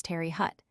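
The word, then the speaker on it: Terre Haute: Thus SL Desmo SL is SL Demo SL Tear Oat is Terry Hut SLBurtfort is SLB fort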